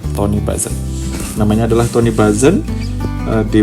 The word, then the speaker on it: Tony Buzan: Siapa yang pertama kali memformalkan istilah ini, penemunya lah istilahnya ya, dia disebut namanya adalah Tony Buzan, kayak gitu kali bacanya, Tony Buzan.